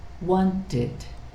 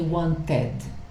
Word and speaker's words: wanted: started, visit, id, visited, want, id, wanted. So you wouldn't say wanted, that's incorrect, okay? So try to remember that. And the rule here is, if you have a regular verb and the final consonant, right, is T or D, and then the pronunciation of ed is id.